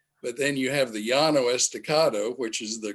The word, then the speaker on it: Llano: And so that can even color the accent that you use, meaning Llano, if I go there and say Llano, it's not going to work.